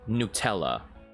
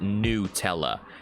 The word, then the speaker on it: Nutella: I think I've seen that on the internet, combining pickles with Nutella. Okay. And yes, apparently you're supposed to pronounce it Nutella and not Nutella. Okay? It's not nut. It's newt.